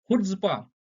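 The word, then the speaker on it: chutzpah: अगला वर्ड है हमारा हुड्सपा। हुड्सपा में जो है सी साइलेंट है और इसको ऐसे पढ़ते हैं हुड्स्पा।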